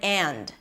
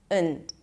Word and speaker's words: and: Now, when this word is unstressed, I completely reduce the vowel there, and instead of pronouncing the and, I just pronounce it as und.